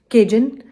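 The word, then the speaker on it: Cajun: थी वो ये कि मैंने लास्ट वीडियो में काजून बोला हुआ है। दैट इज केजन क्योंकि पता है मैं रेस्टोरेंट्स वगैरह में जाती हूं तो मैंने हमेशा इन्हीं स्पेलिंग्स के साथ पढ़ा है। तो मुझे यही लग रहा था कि शायद प्रोनाउंसिएशन उसकी यही है। लेकिन इट्स केजन।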